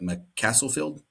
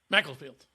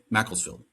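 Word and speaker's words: Macclesfield: Um John Rooney is the manager of and I'm going to get this name wrong, but M Castlefield Macklesfield. Mlesfield. Macklesfield.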